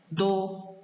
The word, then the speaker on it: do: Agora, do é uma sílaba átona, porque ela é considerada uma sílaba átona, porque ela é pronuncia com pouca intensidade.